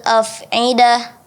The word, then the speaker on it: af'idah: Allati tattali'u 'alal af'idah. Afidah. I-nya hamzah ya, bukan ain.